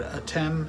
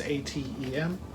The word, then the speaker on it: Atem: uh fourth album uh i've heard two pronunciations of this i've heard a tim and i've heard adam uh it's easier for me to say adam so that's what i'll say but it's atem uh so this is 1973.